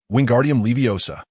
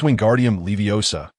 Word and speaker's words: Wingardium Leviosa: You pronounced it incorrectly, Hermione stated bluntly, having just received praise from Professor Flitic. Hermione seemed considerably more cheerful. It's Wingardium Leviosa. You must enunciate the gar clearly and distinctly.